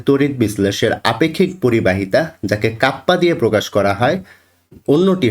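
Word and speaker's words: kappa: কাপ এটিকে কি বলা হয় এটিকে বলা হয় কাপ্পা এখানে এই কে এর উচ্চারণ কি কাপ্পা এবং তোমরা সবসময় জেনে এসেছো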